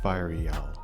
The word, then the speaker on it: Fireal: to pronounce this FAL fireal yeah I I say I say for real real whatever okay I checked it's fireal for real is the